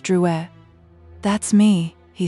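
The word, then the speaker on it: Drouet: Druer. That's me, he said, putting the card in her hand and touching his name. It's pronounced Drew E. Our family was French on my father's side.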